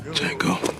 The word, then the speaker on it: Django: Jango and Chain. What's your name? Django. D J A N G O the D is silent and soon the hateful eight.